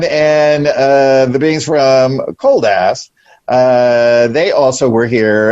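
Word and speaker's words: Koldas: said cool though no i said it's k-o-l-d-a-s oh yeah completely different right but pronounced the same way basically i could tell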